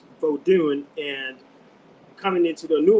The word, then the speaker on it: Vodou: V O D O U which is a spin-off of the EA or Vodun in Benin. It's V O D U N Vodun and coming into the new world in the Americas.